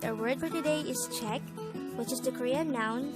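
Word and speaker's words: 책: noun for book the word czech is composed of just one syllable which is formed from the combination of the sounds of chia e and kyok and with that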